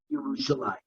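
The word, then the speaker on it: ירושלים: it in the Haftarah, you will see that in the Navi it's never written Yerushalayim. It's actually written like it is over here, Yerushalayim. One city. We pronounce it Yerushalayim because of this pasuk.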